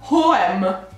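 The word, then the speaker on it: H&M: probabilmente sbaglio allora allora h m non si dice anche meno si dice e cenere si dice gueant per adesso non so se riesco a riprodurre bene questo solo lo svedese questo l'ho capito non lo sapevo l'ho scoperto in questo momento e si pronuncia vm vabbè non ci sarei mai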